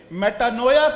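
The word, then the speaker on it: μετάνοια: है इसके लिए एक ग्रीक का यूनानी का एक लफ्ज है मेटानोया मेटा नोया इसके स्पेलिंग है एम ई टी एम ई टी ए एन ओ आई ए मेटनोया एम ई टी ए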